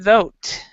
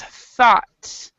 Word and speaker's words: thought: in this one, but this sound is not thote. This is so it's thought. So thought. Thought. So though and then thought.